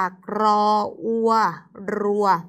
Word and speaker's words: รั้ว: รั้ว รั้ว เกิด จาก รัว ไม้ โท รั้ว ไม่ ใช่ รั้ว นะ คะ รั้ว ออก เสียง รอ เรือ ให้ ชัด เจน ด้วย นะ และ คำ สุด ท้าย